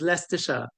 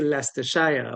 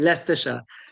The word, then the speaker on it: Leicestershire: If I guess if we're saying it, so like the proper way to say it is Leicestershire, right? But like Caribbean people will say Leicestershire, but that's actually wrong. It's actually Leicestershire, right?